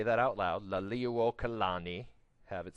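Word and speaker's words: Liliʻuokalani: Liliuokalani, go ahead and say that out loud, Liliuokalani, have it spelled phonetically there for you.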